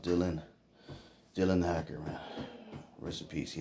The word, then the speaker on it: Dillion: his name is bill d-i-l-i-d leon but it's pronounced dylan dylan hacker man recipes he had passed away